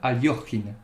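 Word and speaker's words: Alekhine: du tenant du titre alexandra liquide ou si on préfère prononcé à la russe alexander aliochine alors pour la petite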